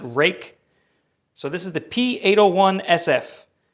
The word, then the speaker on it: Ruike: Next on the list, we are going to look at the Ruike, or Rake. I'm not sure how you say it. I'm pretty sure the Chinese want you to pronounce it Rake.